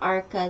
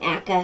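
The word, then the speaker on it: Acre: Yeah, it's not Arca there. That's a different, area there. That's not Arca there. Arca's this way. I mean, Akka.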